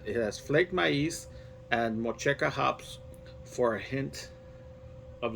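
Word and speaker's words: Motueka: a special type of hop here, and it's pronounced Mochioca hops. And it's a New Zealand hop with refreshing notes of tropical fruit and citrus. So it says here that it has flaked maize and Mocheca hops for a hint of lime.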